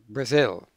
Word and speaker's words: Brazil: syllable is zil now the stress is on the second syllable and so an English person pronounces this word Brazil now you can see